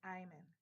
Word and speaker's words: Ayman: It is Ayman, and it's Nigerian.